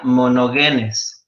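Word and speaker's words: μονογενής: la palabra ong nito en el griego es o se pronuncia mono genes y quiere decir el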